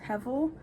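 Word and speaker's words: הבל: If you don't know what vanity is, it pretty much, in the Hebrew text, it's pronounced hevel, but obviously I'm not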